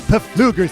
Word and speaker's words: Pfluger: ever meet or maybe Bruce Pfluger see the silent p for Quality I'm so